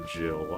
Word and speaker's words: gil: You pronounce a gill as a gill or jill? I say gill cuz I am a uh a gif person.